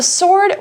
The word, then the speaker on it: sword: So for an example sentence, before guns were invented, the sword was what most people used in war.OK, 那这边看到两个名词啊，第一个我们讲到的是 handkerchief，要注意它的发音哦。虽然呢字中有一个 k，好，可是字中有一个 d，但是 d 是不发音的。好，我们直接念 handkerchief 就可以。那再来还有 sword 也是 w 不发音，好，所以念 sword，那指的就是剑或是刀。